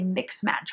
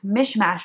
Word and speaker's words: mish mash: Monday said it right I keep wanting to say mix match Monday but it's mish mash Monday and that's when she'll